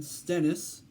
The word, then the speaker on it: Stennis: and by the way his last name is spelled s T E and n is it's like Dennis but it's instead of a D it's s T so Stennis I'm pursuing I don't